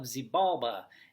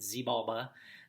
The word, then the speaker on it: Xibalba: And Hun-Kame is the Lord of Xibalba, and I may be pronouncing that incorrectly, but I pronounce it Xibalba.